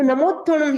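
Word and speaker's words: नमोत्थुणं: तो सबसे पहले हम क्या करेंगे, जो नमोत्थोणम है इसका हम उच्चारण करेंगे।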